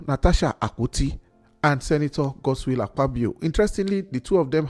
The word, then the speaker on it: Akpabio: akuti and Senator God aabo interestingly the two of them have ak ak at the beginning of their name a AIO but the K is silent now ATI and aabo